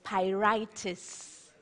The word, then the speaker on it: pyrites: I write all acceptance but the proper pronunciation is pi righteous iron pyrites thirty seconds